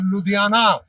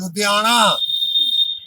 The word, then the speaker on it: Ludhiana: Now, for example, this L, Lalla, UDHIANA, it will be pronounced as Ludhiana, but the actual pronunciation is Ludhiana. This na is not there in English.